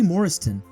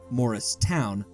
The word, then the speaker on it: Morriston: girl and she wasn't Judy Morriston or morrist toown as some mistakenly pronounced it was perceived as